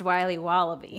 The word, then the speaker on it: Wiley Wallaby: Wally's will be wobba beats pronounced Wiley wallaby well it's very good it's called Wiley wallaby and it's delicious all